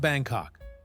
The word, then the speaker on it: Bangkok: It's pronounced Bangkok. One word. Kok rhymes with rock, the wife laughed.